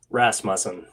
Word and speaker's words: Rasmussen: Tell me how to correctly pronounce the last name. Rasmussen. Ah, okay. Rasmussen.